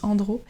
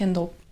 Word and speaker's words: Endro: Un peu comme Endro, on avait dit, il y a beaucoup de personnes qui prononcent Andro, mais à la bretonne, on aime bien faire ça.